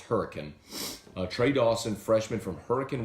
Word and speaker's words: Hurricane: Dawson from Huracan West Virginia spell hurricane but pronounced hurricane trade Dawson freshman from hurricane West Virginia he